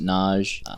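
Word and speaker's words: Nazh: In the audiobooks, it's pronounced Naj.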